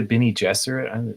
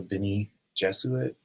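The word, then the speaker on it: Bene Gesserit: aerate so and it is you say the bie jesser not the bie Jesuit or guess so I I listen to a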